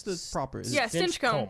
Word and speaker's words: Stinchcomb: Is Yeah, it Stinchcomb. Stinchcomb. You just gotta Stinchcomb. power through it. Stinchcomb. Do Yeah. you say comb? Yeah. Okay. Like your hair.